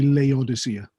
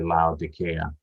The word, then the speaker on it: Laodicea: Because in English, people tend to say Laodicea. Laodicea, okay, okay. Because in Welsh it would be Laodicea.